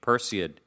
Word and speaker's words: Perseid: Perseid. How do you say it? Perseid? Yeah. Why did they have to make it such a tough name? Perseid.